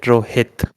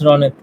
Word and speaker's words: Ronit: uh just a question is it pronounced ronit or is it Rohit it's ronit ronit okay yeah I think